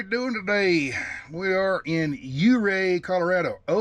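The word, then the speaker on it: Ouray: foreign America how we doing today we are in uray Colorado o-u-r-a-y you Ray the O is silent u-ray Colorado uh it's on Highway 550.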